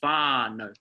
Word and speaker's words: whānau: So rather than saying whānau, we're saying whānau, whānau. So it's a long A sound, whānau.